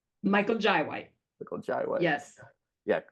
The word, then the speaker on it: Michael Jai White: Is it Michael J. White or Michael Jai? Michael Jai White.